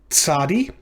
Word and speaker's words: tsadi: This is the letter tsadi, and it makes the sound at the beginning of that name. Tsadi, that TS sound that you would find at the end of the word boots.